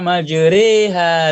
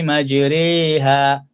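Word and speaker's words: مجراها: Nah, karena majriha re itu bacanya tipis, bukan majri, bukan majriha, tapi majriha.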